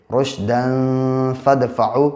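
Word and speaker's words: رشدا فادفعوا: अब दाल के ऊपर 2 ज़बर है, 2 ज़बर की तनवीन है। अब यहाँ पे क्या है, आगे फ़ा है, अलिफ साइलेंट है तो यहाँ पे इख्फा करेंगे, रुशदन फदफ़ाउ, क्योंकि फ़ा हुरूफ़ इख्फा के 15 हरफों में से है।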